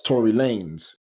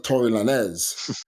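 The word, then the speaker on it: Tory Lanez: Drake beef and like the guy couldn't even pronounce Tory Lanes he's proun Tory Lanz I'm like you you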